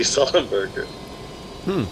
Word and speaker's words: Sullenberger: symbol a burger emoji but it's pronounced Sully sullenberger and how welcome